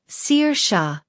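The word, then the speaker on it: Saoirse: I could say It's like sir sha. Seir like someone who sees the future and sha like the sound you make when you want someone to be quiet.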